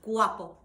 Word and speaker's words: guapo: so let's try with guapo Guapo so g-u-a-p-o very much pronounced a bit like a w kind of sound waffle so we have guapos